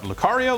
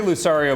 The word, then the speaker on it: Lucario: luar Lucario lario Lucario I say Lucario but I think I said that once in message boards kept saying I said it wrong so it's probably Lucario but I'm going to say Lucario I all right I don't